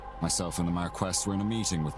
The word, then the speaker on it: Marquess: American pronunciation is Marquess.